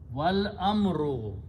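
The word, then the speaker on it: والأمر: Okay, so you combine waw with the lam, wal, and don't pronounce this thing, wal amru, and but we are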